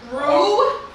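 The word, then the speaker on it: roux: Rue? Yeah. I'm like, yo, what is he Oh. saying? As an X at the end.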